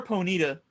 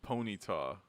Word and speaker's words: Ponyta: Cause he like I mean, is it Ponyta or Ponita? it's Ponyta.